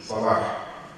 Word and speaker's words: Saleh: It is, you have to say it. Saleh. That's the right pronunciation.